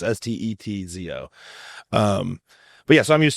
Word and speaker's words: Steczo: For everybody, the C is like a T, Steczo. So it's Czech. C is like a T, right? So phonetically, it's Stetzo.